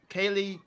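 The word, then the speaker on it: Kaley: Okay, I might pronounce the name wrong, but I know you pronounced it right for me. Kaylee Kukau?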